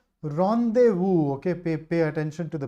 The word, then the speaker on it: rendezvous: Rendezvous, okay, pay attention to the pronunciation here.